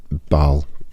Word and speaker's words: Bael: listed and that is Bal or some would pronounce as Bale or some would pronounce as Bal. I I tend to go for Bal. I think uh I don't think the pronunciation particularly matters too much. I think that's kind of an individual choice on how how you pronounce that. But I go with Bal.